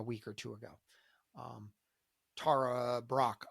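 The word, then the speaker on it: Tara Brach: or two ago um Tara Brock I believe is how you say her name b r a c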